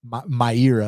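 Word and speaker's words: Mayra: for that reason I'm picking Myra my era is actually how you pronounce it all right now this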